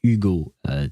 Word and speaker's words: Hugo: very French sounding although we would pronounce it Ugo because we don't pronounce hes in uh French uh the